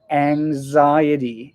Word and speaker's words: anxiety: Next one, anxiety. It sounds like A-N-G, ang, and then a Z.